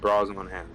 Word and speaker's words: Brosnahan: How do you pronounce her last name? Rachel Mc what? Brosnahan, Brosnahan. something like that. All right, Brosnahan for sure.